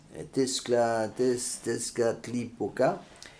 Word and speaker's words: Tezcatlipoca: des petits noms charmants, Tezcatlipoca, comme ça se prononce, était moins que rien puisqu'il se tenait en dessous de la dame et était en plus diabolique puisque noir.